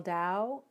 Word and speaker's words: Tao: Shell says, how do you spell Tao? It's T-A-O, but it's pronounced D-A-O. Confusing, I know.